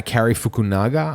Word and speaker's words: Cary Fukunaga: And it was made by this guy, Cary Fukunaga, I believe that's the way his name is pronounced.